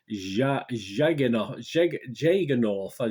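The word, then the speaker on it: Jagernauth: the playlist kevin jager north that's how you pronounce it j-a-g-e-r-n-a-u-t-h i'm sorry kevin i've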